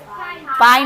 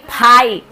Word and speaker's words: phi: पाई नहीं, फाई।